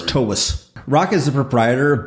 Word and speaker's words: Toews: Yeah, like T-A-V-E-S, Toews. It's actually okay. V sound. Slavic? And it is Toews. Correct. Yeah, so it's Toews.